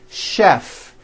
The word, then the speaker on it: chef: things even more difficult there are a couple of words that are spelled with ch and are also pronounced with a sh sound words like chef and the City of Chicago okay having said that